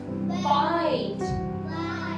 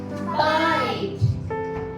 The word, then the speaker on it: bite: rise m great job b b i i t t e silent this I is I I sound I sound b i t b i no no no bite everyone pronounce to me bite bite p p i